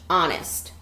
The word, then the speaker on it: honest: otters should be honest there's the H over here that's a silent H honest that means they should